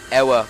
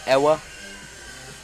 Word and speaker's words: Ewa: I guess he can pronounce it any way he wants, but looking at it, I would just say Ewa.